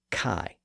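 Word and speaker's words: chi: Greeks called he but in English it's usually called Kai at any rate Latin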